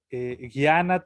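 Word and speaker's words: jñāna: Como si pronunciara guitarra, ¿cierto? Guiana. Guitarra. Entonces, Guiana.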